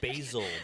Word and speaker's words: Basel: So the original Art It's Basel pronounced Basil, jackass.